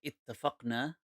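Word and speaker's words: اتفقنا: No, but that's how you say it in Arabic. You say ittafaqna, like we have agreed.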